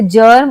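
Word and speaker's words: germ: पर कई बार ज के लिए जी भी आता है। जैसे जर्म और जर्मिनेशन।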